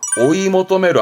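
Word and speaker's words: 追い求める: 이때 발음은요. 오이모토메루 합니다.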